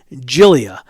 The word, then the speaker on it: Giglia: Her name is Gabby Giglia. I was butchering that poor girl's name. I apologize. It's not Giglia. It's Giglia. Like Jill, Jill, and then E, and then Jill E. So, Gabby Giglia, don't mess that name up.